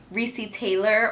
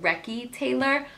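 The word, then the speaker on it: Recy Taylor: about the story of Ricci Taylor or if you pronounce it recce Taylor but her story hurt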